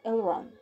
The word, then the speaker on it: Elrond: yes this is how you say it lord elrond he looks like a truck stepped on her